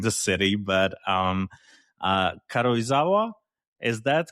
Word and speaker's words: Karuizawa: Uh I might mispronounce the name of the city, but um uh Karuizawa?